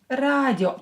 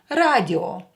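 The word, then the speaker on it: радио: But because it's a foreign word in Russian language, we will keep the pronunciation of O here. Radio.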